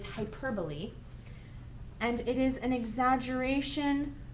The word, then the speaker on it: hyperbole: device here is hyperbole not pronounced hyperb it is hyperbole and it is an